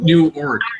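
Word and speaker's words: Newark: in big trouble word you say it like new arc yeah you have to say like you have to say like new arc Arc new new orc yeah new orc because they try to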